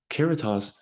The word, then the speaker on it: caritas: the 10 keratos process keratos I've heard it pronounced both ways I like keratos because it rhymes with Veritas and um I look